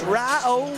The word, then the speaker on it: Rio: I mean absolutely just a simple message it's R oh and head of Rio but then again if it's if it's spelled out in message you're still reading the